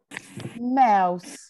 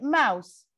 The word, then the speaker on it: mouse: Mouse. Mouse. How many syllable here?